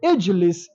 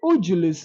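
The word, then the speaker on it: اجلس: So we say Ijlis. We don't say Ujulis, no, it is wrong. And we don't say Agilis, no, it is wrong.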